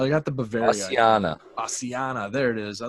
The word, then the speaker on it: bassiana: I'll give us some Bavaria Bassana. Man, I'm not even gonna butcher the word. Some BB You were really bacteria. close. Really I was close. pretty close. Bavaria I got the Bavaria. Bassiana. Bassiana.